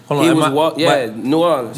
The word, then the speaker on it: New Orleans: In New Orleans. Am I saying it right? Past that same project. New Orleans. No, I've seen it spelled N-A-W-L-I-N-S. We don't say that shit.